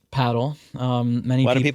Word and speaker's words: padel: Yeah it's uh it's pronounced paddle. um Many people of people say padel. Padel is a a mix of people trying to sound Spanish but also you know